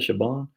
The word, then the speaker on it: Siobhan: did you know uh but s-i-o-b-h-a-n is not pronounced like it's looks siobhan or some of that shiban um and do you know c-i-a-r-a isn't sierra